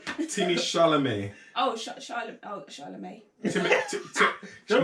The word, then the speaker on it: Chalamet: Timmy Shalom. Wow, that's not his name. Timmy Chalamet.